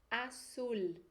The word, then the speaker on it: azul: De S forte, como se fossem dois S's, e o L do final com som de L. Vamos ler então? Azul.